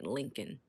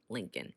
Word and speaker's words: Lincoln: is the capital and we don't pronounce that second l we just say lincoln lincoln like the president nevada nevada nevada and